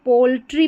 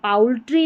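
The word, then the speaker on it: poultry: फिर यहाँ पर दे रखी अगली स्पेलिंग, यहाँ पर भी ओ यू के बाद में एल है तो इसको पोल्ट्री पढ़ेंगे, पाउल्ट्री नहीं पढ़ते, पोल्ट्री, क्या पढ़ेंगे, पोल्ट्री।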